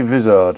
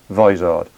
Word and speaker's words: Vizard: a mr david wizard i always used to say vizzard until i watched one of his youtube videos and realized that he pronounces his surname vizard so dave advised it